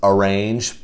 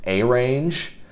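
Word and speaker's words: arange: It looks like it's pronounced arrange, but it's actually pronounced arrange.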